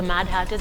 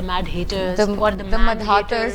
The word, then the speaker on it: Mad Hatters: you come up with it i'm glad you pronounced it the mad hatters because sometimes people call it the mad haters you know if somebody doesn't know they can